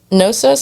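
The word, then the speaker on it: Knossos: Systems their palace at noos I think the K is silent k n o SS o s featured pipes made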